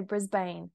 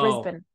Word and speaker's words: Brisbane: just need to say you did such a good job with Brisbane a lot of Americans say Brisbane but you said Brisbane that's really good oh yeah but now